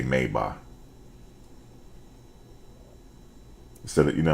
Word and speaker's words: Maybach: um Adidas is different than we do we mispronounce it but I just say Adidas just like they say instead of saying mayback they say mayba instead of you know how we say Maybach